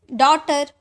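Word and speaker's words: daughter: डॉटर इसका sound नहीं आया। डॉक्टर है ना तो जी एच का साउंड नहीं आता है इन वर्ड में पीएच पीएच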